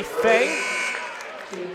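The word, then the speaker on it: Fahey: So her coach and Drew Olson called her Fay for 2 years. He thought it was that the entire time, until 2 years in, this being the second year, she goes, yeah, that's not how you say it. It's Fay.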